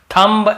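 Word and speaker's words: thumb: भी हैं, ठीक है, लेकिन ज्यादातर आप देखेंगे ये सब वर्ड्स में हम एम के बाद बी का उच्चारण नहीं करते हैं। कॉम, बॉम, थम, डम, थंब ऐसे बोलते थे, याद रखिए।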